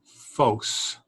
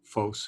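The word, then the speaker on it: φῶς: And then to, the phos is a light, of course. That's the phi symbol, the PH sound, and that's the omega, which is a long O sound.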